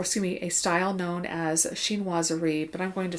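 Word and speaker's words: chinoiserie: the influence or assuming a style known as sheen wazari but i'm going to spell it for you c h i n o i s e r i e so xin wazari literally is a term that describes the influence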